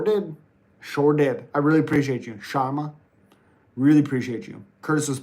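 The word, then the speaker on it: Shara: Curtis yeah M MMA you're saying Karma but it's pronounced Sharma like Pera says Sharma shama Curtis was angry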